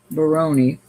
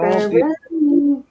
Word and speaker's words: Baroni: All right, so this bracelet is a Baroni Baroni, I believe I'm saying it right. It's all Baroni?